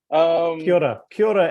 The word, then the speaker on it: Kia ora: Kia ora, Evan. Nice to see you again, bro. Is that okay? So that's how you pronounce it.